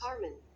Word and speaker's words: carmine: The word is pronounced Carmen.